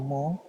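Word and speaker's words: μ: Nah, perlu kalian ketahui bahwa lambda di sini menjadi parameter pertama dan mu atau mo bacanya mo atau mo ini merupakan parameter kedua.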